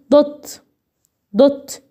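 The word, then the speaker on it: doubt: اقول ايه دوت انسى البي اكنها مش مكتوبه. مش هنطقها برضو كده.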